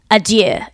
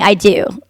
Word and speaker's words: adieu: idea right yeah like you're not even saying it right you're saying i do to bid i do